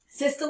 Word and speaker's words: systole: able to focus on here okay um next systole and diastole is how you say these words